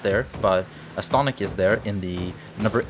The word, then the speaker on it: Astonic: It's not Astonic or Astonic. It's Astonic, right? Like astonishing. I guess that's the word that he came up with. Like he altered that word, astonishing. An interesting.